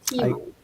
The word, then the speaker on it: Tiimo: Nicholas, but also to uh make a better app than uh Teemo. Teemo. I still haven't figured out how to say their name. It's Teemo.